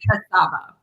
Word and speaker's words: Kucaba: I'm like, wait, I think I've been saying her name wrong. Actually, Kucaba.